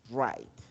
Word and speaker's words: write: verbo se llama right right que nosotros lo llamamos en español escribir Recuerden que esa W del verbo right No se pronuncia solamente leemos desde la r write busquemoslo por favor en